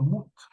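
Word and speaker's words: מות: tres consonantes verdad pero la de medio se convirtió en vocal Y entonces ya no más pronunció mut es el verbo morir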